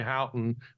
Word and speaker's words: Houghton: Do you pronounce it that? John Houghton, yeah.